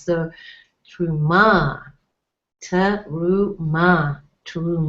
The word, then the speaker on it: Terumah: looking at this that it actually has three syllables tub room ma and the emphasis would be we would you guess it would be on the last syllable because it has a comet's which is a are strong are with a hey to add more emphasis so true ma turn